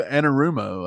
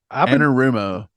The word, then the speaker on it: Anarumo: Yeah, so you're saying it's Lou Anarumo, I think is how he pronounces his name. Anarumo.